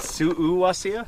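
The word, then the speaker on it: Suuwassea: in 1999 very cool is that how you say it Su wasia that's what how Jerry says it okay okay yeah well I will say it from that that way from now on I always heard Carrie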